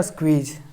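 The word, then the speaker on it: squeeze: को जा पढ़ दिए, और ई साइलेंट है। स्क्वीज, तो ये सब मिलके क्या बन गया? स्क्वीज, स्क्वीज पढ़ेंगे इसको, स्क्वीज, ठीक।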